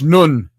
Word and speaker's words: Nun: personified by the god nun nun spelled like none it's nun the earth personified by god